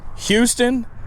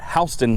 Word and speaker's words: Houston: And we do have a, what most people would pronounce as Houston, but we call it Houston, Delaware.